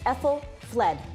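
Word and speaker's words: Aethelflaed: The first part is Ethel, is it not? Yes, it's ethel fled.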